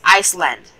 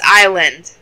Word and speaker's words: island: When I was little, I always used to read island as Iceland. I don't get why I did that. Iceland? That is an actual place, but still, that's not how you pronounce island.